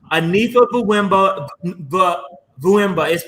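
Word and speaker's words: Anifa Mvuemba: Also, I'm very, very impressed with Anifa Vuemba. Anifa Vuemba. It's not spelled that way, but it's pronounced that way.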